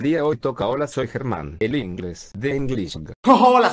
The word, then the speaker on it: Germán: ¿Cómo saben mi nombre es Germán? Pero en inglés se pronunciaría German, que en inglés significa alemán.